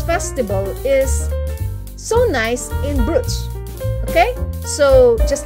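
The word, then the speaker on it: Bruges: to go to bruce they pronounce it as bruce it's b-r-u-g-e-s did i pronounce it right it's bruce okay so i wanted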